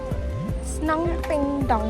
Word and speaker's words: স্নংপেডং: আমাদের ডাউকি ঘোরা শেষ, আমরা এখন যাচ্ছি স্নংপেংডং বলে কোনো গ্রামের দিকে। যেই গ্রামটার নাম আমি একদমই ভুল উচ্চারণ করলাম, আসলে এটা স্নংপেডং গ্রাম।